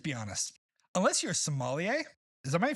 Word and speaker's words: sommelier: Unless you're a sommelier, is somebody saying that right?